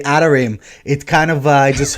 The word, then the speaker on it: Atarim: So, Atarim. like the real it means websites in Hebrew. So if you pronounce it in the Hebrew way, it's actually Atarim.